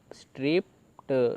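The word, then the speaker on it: stripped: पता ही है कि जब भी ईडी हो वर्ड के लास्ट में, तो वहाँ पे क्या होता है कि जो ई है वो साइलेंट रहता है, और सिर्फ डी की आवाज़ आती है, जैसे कि यहाँ पर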